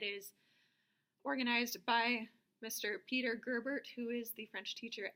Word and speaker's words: Gerbert: Gerbert is spelled Girbert.